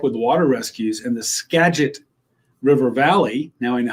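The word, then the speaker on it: Skagit: to go help with water rescues and the Scadget River Valley. Now I know how to pronounce that.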